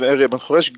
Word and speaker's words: Ariel Ben Horesh: As Rob said, my name is Ariel Ben Horesh, good pronunciation, by the way.